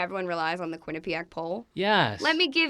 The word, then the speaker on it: Quinnipiac: was in Connecticut in college so I went Quinnipiac okay that's how you pronounce that yeah believe me does not matter